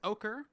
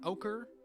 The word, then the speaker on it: ochre: what they're called pearlescent and verdant and uh ochre it's actually pronounced ochre like o a k e r ochre alker yeah it's weird anyway this guy's got